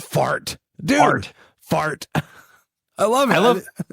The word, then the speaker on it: fart: Did you know, Breeze, that in Sweden, the Swedish word for speed is fart? You still with me? Like spelled the same? Oh yeah, exactly the same. It's like fart.